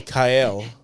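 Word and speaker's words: Kael: a l e kale k a e l how do you say that K kale oh Kyle okay yeah Kyle Kyle Kyle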